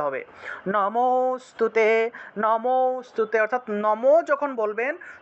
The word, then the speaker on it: নমোস্তুতে: এটাকে নম অস্তুতে এইভাবে উচ্চারণ না, একসাথে উচ্চারণ করতে হবে। নমোস্তুতে, নমোস্তুতে, অর্থাৎ নম যখন বলবেন তখন অটোমেটিকভাবেই অ চলে আসবে, অর্থাৎ লুপ্ত অ এর উচ্চারণটা চলে আসবে।